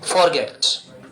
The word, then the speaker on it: forget: फॉरगेट, ध्यान दीजिए इसमें आर को साइलेंट कंडीशन में बोला जाता है हल्का सा।